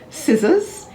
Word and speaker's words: scissors: d-e-b-t-o-r and doubtful d-o-u-b-t-f-u-l the letter c is generally silent if it comes before the letter s and before the letters i or e for example conscious c-o-n-s-e